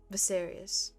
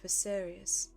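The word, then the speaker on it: Viserys: also I just realized I changed uh the way I say his name so visarius I think that's the way you're supposed to say his name visarius okay okay moving on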